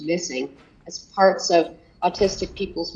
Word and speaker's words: MSSNG: eliminated that program is called mssng pronounced missing as parts of autistic